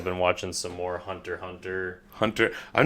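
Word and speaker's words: Hunter × Hunter: just hunter hunter right X is silent yeah but uh yeah I'm not hunter Cross hunter nope but that's pretty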